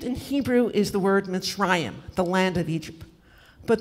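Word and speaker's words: מצרים: Egypt in Hebrew is the word Mitzrayim, the land of Egypt. But there's another meaning for that. There's another way to pronounce that, and it's Mitzarim, which means narrowness inside yourself.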